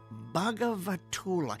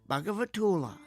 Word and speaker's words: Bhagavatula: Let me see if I remember how to pronounce it. Bhagavatula. Yeah, that's it. Bhagavatula.